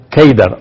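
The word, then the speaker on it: Kedar: En árabe la palabra Cedar se pronuncia Keidar o se escribe Keidar.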